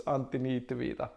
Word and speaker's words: Antti Niitty: name i come from finland it's hard to pronounce so it's anthony tevita and i have a background in software development